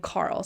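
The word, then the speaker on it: Qarl: Laenor comes in with this guy named Carl, spelled with a Q, Q-A-R-L, who's his new lover.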